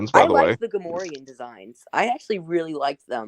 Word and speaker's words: Gamorrean: It's pronounced Gamorrean. I remember one of the clones in Battlefront pronouncing them Gamorrean. Right. Maybe no, I they're guess. definitely Gamorrean.